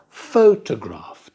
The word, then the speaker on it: photograph: Photograph. Da da da. Yesterday. Da da da. Yesterday. Holiday. Da da da. Holiday. Stress on the first syllable.